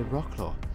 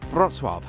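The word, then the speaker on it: Wrocław: what do you mean by rock claw where is that place so i wrote it down on a piece of paper for them and they showed me the correct way to pronounce the word which was brock well i'd seen pictures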